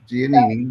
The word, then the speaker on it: Giannini: I don't know how to pronounce. Giannini.